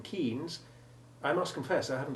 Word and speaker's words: Keynes: Though if you ask me why the sounds of EY in Seymour and Leighton are different, or why the famous or infamous economist's surname is Keynes, but the town is Milton Keynes, I must confess I haven't a clue.